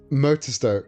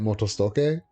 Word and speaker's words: Motostoke: of a tutorial and they pronounced it Motostoke. And I'm like, nah, dude. I understand you're trying to pronounce it accurately as a Japanese name, but it's not. It's fucking Stoke.